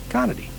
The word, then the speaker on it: Conaty: Conity, just like it's spelled.